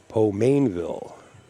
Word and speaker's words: Pomainville: We're awaiting the official introduction by Mike Zuglin, and then we'll get on board with Mike Yednak and Pomainville. That's the way he said he pronounces his name.